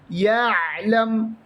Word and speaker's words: يعلم: ഐനിനെ യ എന്നുച്ചരിക്കാൻ പാടില്ല. യഅലം.